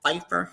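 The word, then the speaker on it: Pfeiffer: a rare genetic syndrome called Fifer syndrome and it's spelled p f i FF e r um and I'm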